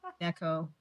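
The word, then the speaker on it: neko: porn so is mine Nico Neco Neco is how you is how you say it it's it's Japanese Dam and bar right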